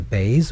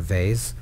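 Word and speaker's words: Beis: So Bays can be pronounced as a Bays or a Vase. Translated into English, that would be an example of a B and a V.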